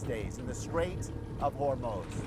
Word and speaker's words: Hormuz: By the way, that's the correct pronunciation. It's Hormos, not Hormuz.